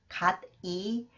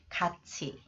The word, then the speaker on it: 같이: Next one, it is not pronounced 갓이, but 같이, 같이. 국민, 국민, 국민.